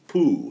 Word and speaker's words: Pugh: and believe it himself I think about Jamie Pooh his name is spelled p g h guy is guy is